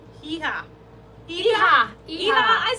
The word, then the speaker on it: hija: You don't pronounce the age, right? In Spanish, there is no sound for age, is there? Hija. Yeah. Oh my God. Yes. Shrinkage, right? Irja.